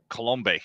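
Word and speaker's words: Coulombe: looked terrible absolutely terrible and uh Danny uh colombe yeah that's how you pronounce his last name he look he looked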